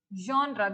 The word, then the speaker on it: genre: Genre. This is pronounced as a genre.